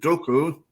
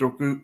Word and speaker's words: Doku: I think Doku poses more of a threat because it's going